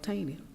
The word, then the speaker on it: Taney: a Supreme Court justice by the name of tiny justice um I pronounce the TA any wise how you spell